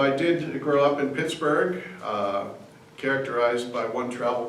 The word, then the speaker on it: Pittsburgh: did grow up in Pittsburgh uh characterized by one travel writer as hell with the lid off it's spelled um b-u-r-g-h like Edinburgh Scotland and it was probably pronounced Pittsboro by General Forbes British general Forbes who